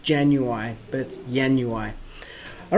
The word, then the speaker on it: ianuae: time with magic dot Yin UI which is how you say that word Yin Yue is kind of like January it's a it's a